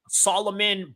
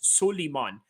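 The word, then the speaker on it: Sulaiman: Solon, you know, they they say it like Solomon, you know, the biblical uh Anglo uh Christian version of the name, you know. It's Solomon, but to the Arabic Quranic uh interpretation, it's Sulimon.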